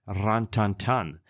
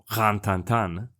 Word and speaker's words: Rin Tin Tin: to the fact that the dog's name is properly pronounced rant tantan or grantan sorry for my French as that would be a correct French version however since this was